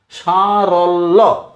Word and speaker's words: সারল্য: লয় জফলা, যেমন ধরো সারল্য, সারল্য। লকে ছোট করে একবার, বড় করে একবার উচ্চারণ করলাম, সারল্য।